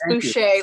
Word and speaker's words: Boucher: Yes, it's Boucher, like touche. It's perfect.